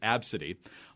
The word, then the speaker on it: Abcde: Southwest Airlines has apologized for a gate agent who reportedly laughed at a 5-year-old passenger's name, spelled Abcde and pronounced Abcde, all within earshot of the girl and her outraged mother.